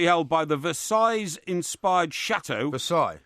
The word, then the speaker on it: Versailles: Versailles? Yeah, Versailles-inspired... The S is silent.